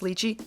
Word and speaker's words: lychee: hit that subscribe button if you like how I pronounced lychee give it a thumbs up if you rather me pronounce it like she give it a thumbs